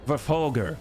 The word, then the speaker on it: Verfolger: Ja, der ist kaputt and Verfolger. That's right. I know I'm supposed to say the middle syllable a little bit stronger, but, you know, I just got off a walk.